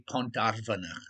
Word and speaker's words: Pont ar Fynach: Probably because they're a bit silly and couldn't say Pont ar Fynach, Olivia Bolivia said, saying it very well, pronouncing the F like a V and the Y like a U.